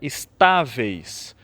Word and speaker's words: estáveis: Uma outra palavra que aparece duas vezes nessa leitura é estáveis. Então, é uma conjugação irregular do verbo estar, né, com um acento no A, onde salientamos essa sílaba.